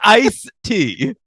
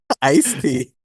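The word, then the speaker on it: Ice-T: guy he's always on don't say iced tea you said I te it's IC tea sorry IC tea IC tea um I didn't know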